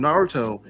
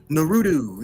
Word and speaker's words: Naruto: Naruto the show well see once again with Naruto people were like the show is Naruto or no it's Naruto no it's nutu you know like people were saying the name's